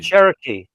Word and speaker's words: Cherokee: Cherokee. Cherokee. And a long e sound on the end of that.